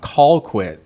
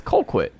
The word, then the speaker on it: Colquitt: Because that is pronounced Colquitt, sir. It's Colquitt. It is. That might be how it's spelled to you, but us down here, folk in Georgia, we say Colquitt.